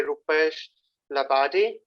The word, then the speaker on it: Rupesh Labade: This is a workshop, and it's going to be conducted by Rupesh Labade. And am I pronouncing it right, Rupesh?